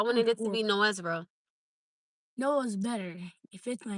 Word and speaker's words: Noah: No-ah. Two syllables. Like No. Like No.